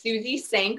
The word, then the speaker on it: Suzie Senk: a website and it's my name so it's suzy sanc which is spelled s-u-z-i-e-s-e-n-k dot com and you can go